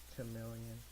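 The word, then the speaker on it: Charmeleon: At least I get Charmander and um chameleon, chameleon, however you want to pronounce it. I like to pronounce the ch, chameleon. I think it just sounds sort of dumb, and I like that.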